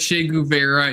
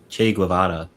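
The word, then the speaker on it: Che Guevara: I know you like I know you I know you like Malcolm X and you like Shay Guera even though he's a murderer and that's fine.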